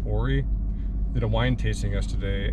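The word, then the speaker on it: Ouray: go there's a town I think it's pronounced Ori did a wine tasting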